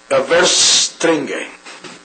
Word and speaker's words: Verstringe: The name of the gentleman who wrote the Oh yeah, I'll spell it to you. It's V like Victor, ERS T like Thomas, R-I-N-G-E. Verstringe.